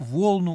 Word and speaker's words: волну: красный как пурпур как волну убелю волна ударение на первый слог на о здесь чистая белая овечья